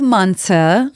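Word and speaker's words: manti: So, we're also going to have manta, which is spelled m a n t i.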